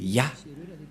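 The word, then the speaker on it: יה: et il a invoqué Ya. C'est clair, d'après cette explication, et personne ne peut contester que c'est bien Ya, la prononciation.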